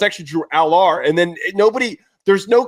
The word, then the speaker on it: Drew Allar: And it's like, well, it's actually Drew Allar.